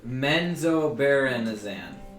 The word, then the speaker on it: Menzoberranzan: It's pronounced Menzoberranzan. Menzoberranzan?